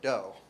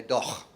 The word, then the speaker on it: dough: And even sometimes there are letters that don't represent any sounds at all, so I challenge you to pronounce that in the word dough, because most of you probably don't say doch.